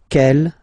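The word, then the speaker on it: quelle: like that c L but it's pronounced like the masculine form k at the masculine kel at the feminine okay so it's basically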